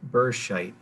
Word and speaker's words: Berscheit: Jan, her name is Carla Burscheit, is how you say it.